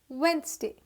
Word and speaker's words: Wednesday: this is not wednesday d is silent this is wednesday once because wednesday is